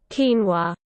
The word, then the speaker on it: quinoa: me a little challenge two syllables phonetic spelling quinoa so the pronunciation is a lot simpler than the spelling interesting here we go quinoa quinoa quinoa slower slow